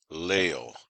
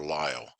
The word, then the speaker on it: Liele: by the name of George Leo or ly I'm not quite sure how to pronounce it it's l i e l e so you can choose your pronunciation for consistency I'm going to try to say Leo so George Leo was